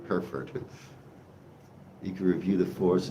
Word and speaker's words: Hereford: For us, it's like the word her and Ford. Hereford. Her and Ferd. Hereford.